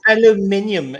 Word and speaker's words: aluminium: It's aluminium. You stupid American box. I love how you put it out phonetically.